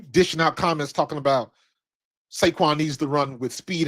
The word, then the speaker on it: Saquon: But I It's funny because I don't I hate when people say it like that because that I'm sorry, not Seaquin.